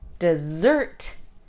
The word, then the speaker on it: dessert: dry and barren place if we stress the second sound dessert we are talking about a sweet treat all right does that